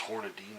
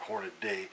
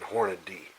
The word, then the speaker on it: Hornady: most anything that Hornady makes and it is Hornady nock Hornaday it spelled Horm a dy there is no da y and Hornady so effort people mispronounce it constantly Hornaday Horner